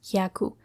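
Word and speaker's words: 百: The own reading is yaku. The example is yaku or 100. Yaken or department store and yakush show or farmer.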